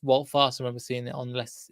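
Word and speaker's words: Wout Faes: So we've got the Ward, Castagna, Evans, Farce, Again, everybody keeps pronouncing his name differently. It's Walt Fast.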